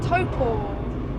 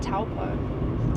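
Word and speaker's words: Taupō: look we're in Topo it's pronounced Topo not TPO this lost to do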